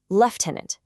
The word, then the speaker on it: lieutenant: It starts with left. Left tenant, not Lou.